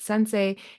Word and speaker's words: Sens.ai: Yeah, I mean, our website is the same as our name, Sens.ai. We pronounce it Sensei.